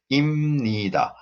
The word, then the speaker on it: 입니다: And what is also important here is the pronunciation is 입니다. This b changes to m. Okay, so 입니다 wrong. We don't pronounce like that. We pronounce 입니다.